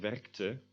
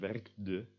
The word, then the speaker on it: werkte: So you get werkte instead of werkde.